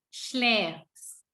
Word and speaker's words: schläfst: Tapi pada saat du, sama EN-nya hilang, tambahin ST, tapi huruf A-nya di sini berubah memakai umlaut, pakai titik 2. Jadi bacanya E. Jadi du schläfst.